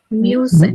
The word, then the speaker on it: muss: Guys, how would you pronounce this word? Musin.